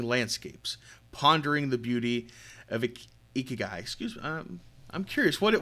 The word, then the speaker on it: ikigai: last little bit here what exactly is uh ikigai am i pronouncing that correctly pronounced it beautifully and thank